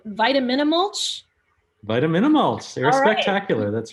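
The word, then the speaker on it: Vitaminamulch: a short film that I always have trouble pronouncing, Vitaminimulch. Vitaminimulch, Air Spectacular, that's right.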